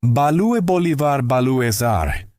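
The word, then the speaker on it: Ba-lue Bolivar Ba-lues-Are: Panonica, a tender ballad where Monk played celesta instead of piano, and Balue Bolivar Balue Sar. Monk's exaggerated pronunciation of Blue Bolivar Blues, named after the Bolivar Hotel where Nika had taken residence after being kicked out of the Stanhope.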